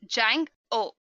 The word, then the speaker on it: Django: Django is pronounced as Jang o make sure to keep the D as silent another very common question